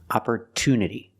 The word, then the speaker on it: opportunity: we cannot pronounce it we pronounce it with a clear T sound opportunity the stress is after